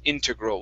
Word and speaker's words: integral: So our stress is at the very beginning instead of integral.